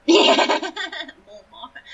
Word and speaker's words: Montmartre: like on the left bank, and is it pronounced Montmartre? Montmartre.